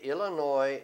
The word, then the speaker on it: Illinois: Now, mire, Illinois tiene un S. Casi todo el mundo quiere decir Illinois, pero no es. Usted no pronuncia la S, la final. Eso es una excepción.